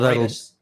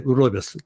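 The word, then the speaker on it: rooibos: I'm pronouncing it completely wrong, but Broigus. No, Broigus. Oh, Roy. Okay, Roibus tea.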